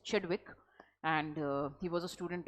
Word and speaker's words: Chadwick: Okay, James चेडविक, आई एम so sorry, I mispronounced his name. It's Chadwick, and he was a student of Rutherford, and Rutherford was a student of J.J.